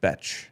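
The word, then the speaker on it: Bech: It's pronounced Betch.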